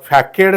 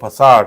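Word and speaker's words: façade: सी ए डी तर याचा उच्चार हा फॅकेड नाही होत what is the correct प्रोनाऊन्सिएशन the correct प्रोनाउन्सिएशन of this word is फसादड what is the correct प्रोनाउन्सिएशन of this word फसादड होतो फसाड okay फॅकेड नाही होत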